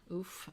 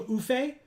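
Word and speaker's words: Ouphe: Oof? Okay. Mm-hmm. I used to call them oofe, and I've since learned that I'm wrong. So they're oof.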